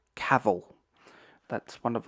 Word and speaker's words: Cavill: to Americans watching this is not kavel it is not anything like it's Cavill Cavill that's one of like